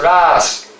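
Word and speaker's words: rāsa: Ras the word is the word is Ras you see it's with a long a it's so the rest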